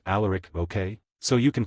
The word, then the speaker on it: Alaric: You'll probably want to pronounce it allaric, but it's all Alaric.